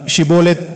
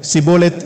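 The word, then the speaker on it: שיבולת: அவன் ஷிபோலெத் என்று சரியாய் உச்சரிக்க முடியாமல் சிபோலெத் என்று சொன்னால் அவர்கள் அவனை உடனே பிடித்து யோர்தானின் துறையிலேயே கொன்று போடுவர்.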